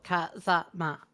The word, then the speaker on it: Kazama: Like in Japan, it's A, I, U, E, O. So Kazama, like completely flat. That makes sense, yeah. And you wouldn't want to put any stress on any of the syllables because that's wrong, and you'll go to jail.